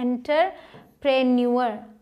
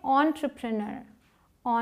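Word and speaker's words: entrepreneur: इसे बहुत सारे लोग बोलते हैं एंटरप्रेन्योर, ठीक है, एंटरप्रेन्योर, लेकिन इसकी सही प्रोनाउंसिएशन क्या है? एंटरप्रेन्योर। एंटरप्रेन्योर मतलब व्यवसायी।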